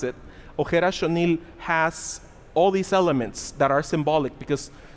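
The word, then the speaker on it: Ojer Axonil: That is why Ojer Ashonil, that's how you pronounce it, Ojer Ashonil has all these elements that are symbolic, because gods are shapeshifters, right?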